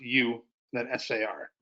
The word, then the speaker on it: USAR: An acronym would be USAR, which is urban search and rescue, pronounced U, then SAR.